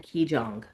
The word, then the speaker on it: Qigong: public speaking, improv, clown, specialized hypnosis, shamanism, and Qigong.